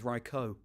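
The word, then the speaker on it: Raichu: as yeah um actually apparently the official pronunciation is raicho REO raicho um but yeah well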